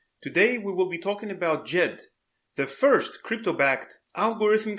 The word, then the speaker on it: Djed: and they are creating jed apparently the d is silent and let's go see